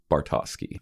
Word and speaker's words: Bartowski: So just to set the record straight, it's pronounced Bartowski.